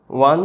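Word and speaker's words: one: ওয়ান বলতে ওয়ানের যে উচ্চারণটা সেটা হচ্ছে ও আর আ, এই দুটো উচ্চারণ পাঞ্চ হয়ে আসে, তাই এর আগে ওয়ানের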